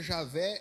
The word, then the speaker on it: Javé: Jeová é um Javé a pronúncia Javé é a mais adequada tá é a mais